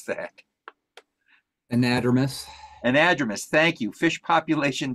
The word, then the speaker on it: anadromous: Hesse has expertise in anadromous, you're gonna have to correct me on that one, Jay. I can't pronounce that. Anadromous.